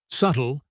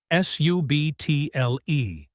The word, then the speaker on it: subtle: Subtle, S-U-B-T-L-E. The B is silent.